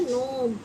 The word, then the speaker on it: gnome: गनोम नहीं पढ़ेंगे, इसको बोलते हैं नोम। और नोम को हिंदी में बोलते हैं, जो हम कहावतें बोलते हैं ना, कहावत, उसको बोलते हैं नोम, कहावत। तो इसमें जी क्या हुआ? साइलेंट आया।